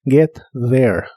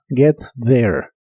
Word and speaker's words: get there: se pronuncia get y la th de la segunda palabra se pronuncia como una d vibrante get there get there Y estos son los